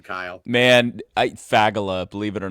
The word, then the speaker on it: Fagala: How do you pronounce your last name, Kyle? Man, I faggala, believe it or not, just go for it. Yeah, I think I was calling you uh Fagala.